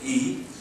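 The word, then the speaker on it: 义: Likewise, Confucianism seeks the roots of everything from universal moral order called benevolence, pronounced Ren in Chinese, righteous, pronounced Yi, courtesy, pronounced in Chinese Li, wisdom, Zi, and considered these moral orders are immanent in human.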